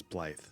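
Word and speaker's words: Blaidd: doing just the same so I guess it's Blythe it's pronounced so I a long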